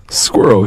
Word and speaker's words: squirrel: okay so the third one is squirrel squirrel squirrel yeah perfect squirrel see I ruined it I